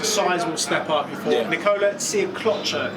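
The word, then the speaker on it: Nikola Sjekloća: Nikola Siaklocha is how his name's pronounced.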